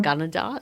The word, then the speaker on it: Gunnedah: Gunnedah, is that how you say it?